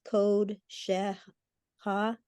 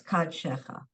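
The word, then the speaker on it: קדשך: On the third line up, that last word, can you also pronounce that as code sheha? No, it's Ka. It's It's- still ka, okay. Yeah, it's Kad Shecha.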